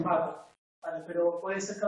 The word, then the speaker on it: váter: La compañera lo pronunciaba con B, váter.